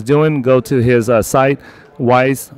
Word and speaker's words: Weiss: go to his site wise ratings with an S calm and wise is spelled whiskey echo India Sierra Sierra ratings calm all right so